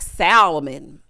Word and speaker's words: salmon: Like salmon. The L is silent.